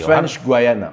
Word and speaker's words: French Guiana: How do you pronounce it exactly? French Guiana.